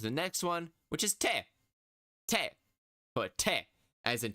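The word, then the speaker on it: て: t t e h t like technique t for Tech te for technique and the technique for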